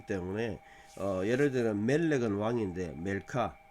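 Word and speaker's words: מלכה: 되고 이게 멜렉 왕인데 여왕하면 멜렉 멜레카 이렇게 하면 발음하기 쉬운데 음절이 멜카 이렇게 그려지잖아요 그러니까 이것도 마찬가지야 잘못했어도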